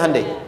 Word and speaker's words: Hyundai: Sehingga ketika di sana bikin Honda, sini Hande Hyundai kan dibacanya Hande ya kan.